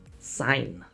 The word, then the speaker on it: sign: No, you don't say the G. Sign, no G.